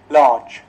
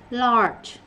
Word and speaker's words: large: Có thầy cô thì đọc là lát, có người đọc là la. Rốt cuộc chữ này là large. Large.